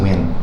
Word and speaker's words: Nguyen: We are joined by Nguyen. I pronounce it Win, like W-I-N, yeah.